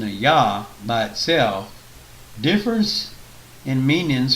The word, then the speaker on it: Yah: nature and historical data the initial sound is pretty much surmise to be yah which rhymes with claw or like me cat's